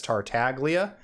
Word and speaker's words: Tartaglia: to make in english in italian so it is tartalia normally i do side with the voice actors on how their character's name is pronounced but in this case i've i've always heard it as tartalia before i ever heard griffin himself say as tartaglia so on this one